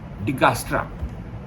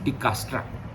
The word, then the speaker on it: Dijkstra: It's first time implemented for an operating system, Digastra. The spellings are Dijkstra, but J is silent. It's Digastra.